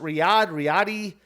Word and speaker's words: Riyadh: I have no idea if it's spelled or if it's pronounced Riyadh. It's Riyadh. Never been to Saudi Arabia.